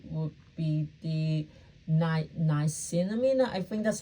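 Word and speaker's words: niacinamide: I would definitely say would be the night nice cinnamina. I think that's how you pronounce it's N I A C I N A M I D E.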